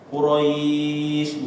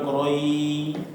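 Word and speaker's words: قريش: Ya, akhirannya kita baca shinnya, ya kan? Quraisy bukan Quroi.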